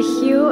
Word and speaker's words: HU: day chant Allah hu the hu is pronounced like the name Hugh it was the unmentionable